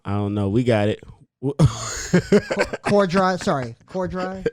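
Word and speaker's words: Corddry: courtney i i don't know we got it core drive sorry core drive it's all good it's not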